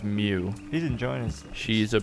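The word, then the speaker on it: Miu: There's a cat person named, I think it's pronounced Mew, M-I-U. Look at him. Look at Spike. God, he rules. I think it's pronounced Mew.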